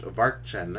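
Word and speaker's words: Watschen: A few times she was given what was known as a Watchen, pronounced Varchen, in the corridor.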